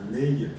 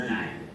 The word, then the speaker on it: Ney: Ah, pas Ney, mais Ney. Excusez-nous, on l'a peut-être prononcé à la bretonne, on a des noms de communes assez atypiques, nous aussi.